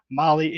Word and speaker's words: Mahle: Molly is spelled Mahle.